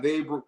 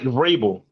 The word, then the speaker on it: Vrabel: He didn't have much to work with, but we got variable, right? How you say it? Variable? Mike Vrabel.